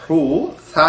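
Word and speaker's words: حوثي: Houthi একটি সম্প্রদায়ের নাম, আরবি হা ওয়াও পেশ হু সা ইয়াজের সি, হুথি। এই উচ্চারণটা সায়ের উচ্চারণ যেহেতু বাংলাতে নাই, সেই কারণে অনেকে এটাকে হুসি মানে দন্তা স দিয়ে বলছে, কেউ ছ দিয়ে বলছে হুসি, কেউ আবার হুথি বলছে থ দিয়ে।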